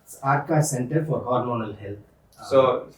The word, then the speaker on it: Arka: center called aka center how do you pronounce it arka center for hormonal health